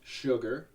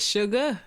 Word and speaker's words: Suga: First of all, from Rockford, Illinois, we have Sugar. Did I say it right? Sugar.